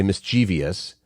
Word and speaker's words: mischievous: us because people say mischievous it's not supposed to be mischi mischievous this is one I think is again so common there's only three syllables right it's basically a form of mischief and that would be